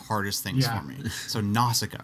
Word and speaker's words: Nausicaä: So Nausicaä, right? Did I say it right, Sean? Nausicaä?